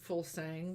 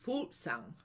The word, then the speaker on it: Fuglsang: It's a Danish name, meaning birdsong. And here we pronounce it Fuglsang, whereas in Denmark it would be Fuglsang.